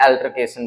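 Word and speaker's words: altercation: ऑल्टरकेशन भी बोलते हैं, एल्टरकेशन भी बोलते हैं। ऑल्टरकेशन बोलते हैं इसको यूके इंग्लिश में, जो यूनाइटेड किंगडम की इंग्लिश है, ब्रिटिशर्स बोलते हैं। एल्टरकेशन इसको वो अमेरिका वाले बोल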